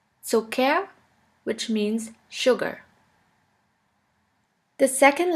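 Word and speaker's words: Zucker: here is Sika Sika which is simply pronounced like a k here we have the example of the word so care so care which means sugar the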